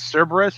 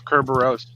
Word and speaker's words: Cerberus: In English, it's always Cerberus. The way that Danny pronounces it is Kerberos. If you pronounce it in Greek, it's Kerberos.